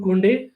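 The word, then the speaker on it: Koundé: Yes, that's how it's pronounced, Jules Kounde or Jules Kounde.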